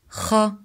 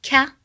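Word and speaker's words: خ: Kha. Kha sound is pronounced from top throat. So it's the throat letter. It's not from the tongue, far tongue like ka sound. It's not ka, it's kha, deeper.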